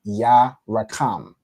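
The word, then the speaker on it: Yarakam: In the second word, you have, or the second phrase, I should say, ya ra kam. How many syllables is that? Who can tell me? Go ahead, Yella. Is it 3? It's 3 syllables, correct, right?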